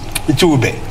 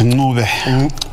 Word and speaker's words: Ncube: Well, let me say, I'll pronounce it the way a Kenyan would do it, Ncube. But how do you pronounce it? No, it's pronounced Ncube. Ncube. Ncube. Yeah, slight click.